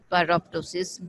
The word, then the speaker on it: pyroptosis: self-destruction that has been named to rhyme with apoptosis pyroptosis rhymes with apoptosis it is slightly different